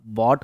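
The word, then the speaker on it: bought: होता कॉट होता है, और BY बाय का बाउट नहीं होता बॉट होता है। Right pronunciation.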